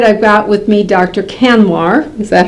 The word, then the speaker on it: Kanwar: Kanwar.